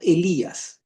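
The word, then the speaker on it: Ἠλίας: Acá encontramos este de aquí, se pronuncia Elías, así tal como ustedas.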